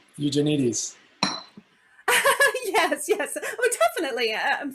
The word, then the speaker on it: Eugenides: Tanya fumbles with the pronunciation. eugenite. You mean Eugenides?